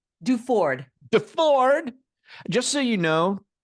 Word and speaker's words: Duford: Duford.